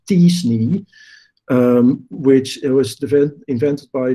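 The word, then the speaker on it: t-SNE: data science technique that i'm told is pronounced as disney which it was invented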